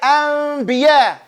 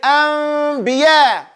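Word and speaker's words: أنبياء: The noon gets converted to meme. It turns into a meme. Everybody say anbiya. But don't put your lips together. Do not pronounce the meme clearly until you get to the ba.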